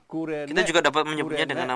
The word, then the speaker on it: Cyrene: In called Kurene. Kita juga dapat menyebutnya dengan nama Kurene. Silent Y, Diucapkan spells in U. Y, but it pronounces U.